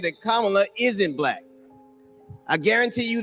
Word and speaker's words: Kamala: Yeah, one lady told me how to pronounce it was like comma with a la.